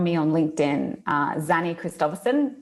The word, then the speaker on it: Christophersen: u or find me on linkedin uh zany christopherson it's a tongue twister so i'll spell it for you it's x a double n